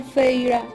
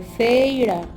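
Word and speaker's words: Feyre: Fijó los ojos en mí y agregó, por favor, Feira. Dijo las 2 sílabas de mi nombre, Feira, en el gemido más horrendo que yo hubiera tenido que tolerar jamás.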